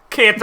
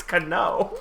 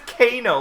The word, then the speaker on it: Cano: apologies I knew wrong you're still not saying it right it's Cano that's what I just said oh you s Cano like volcano no no that was